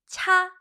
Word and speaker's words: 차: Say 차, 차. There you go. I know in Mandarin Chinese we say cha or tea as well. So 차, 차, 차. I love tea. 차 좋아해요. But 차 has a second meaning.